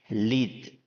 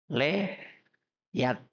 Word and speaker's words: lead: Lead. Tulisannya L-E-A-D. Leyat. Leyat. Bacanya apa? Lead.